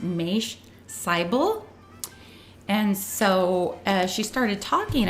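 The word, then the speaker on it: Mache Seibel: It's pronounced Maish Seibel. And so she started talking about how you can get other health benefits from estrogen if you take it at the right time. So this Maish Seibel, he's, according to the write-up or this description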